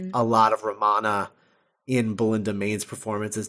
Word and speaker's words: Romana: Romana 1, right? Yeah, Romana 1. Whoa. That rhymes with Moana.